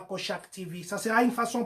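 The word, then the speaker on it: Cochac: Kochak, comme ça se prononce, C-O-C-H-A-C.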